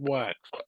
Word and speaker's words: Wachs: Oh, and it's Wax. Am I pronouncing it Correct. correct? Yeah. Yep.